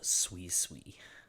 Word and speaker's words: Suicune: Well, my favorite water type is the good old dog boy himself, Suicune. That's how you pronounce it.